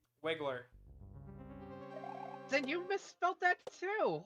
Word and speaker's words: Wiggler: Wingler? Wiggler.